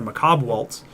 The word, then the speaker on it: Macabre Waltz: like grave digger or macabre waltz which is how it's pronounced by the way in case anyone's struggling with the pronunciation of that card and you get there